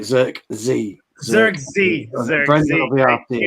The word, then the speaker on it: Zirkzee: Zirkzee.